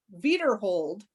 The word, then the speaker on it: Wiederhold: And John Wiederhold, that might be the correct German pronunciation, was the first father of St.